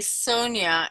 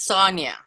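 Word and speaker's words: Sonja: correctly and you know with your name I'm always wanting to say Sonia and it's Sonia um my German pronunciation yeah is is Sonia my father always called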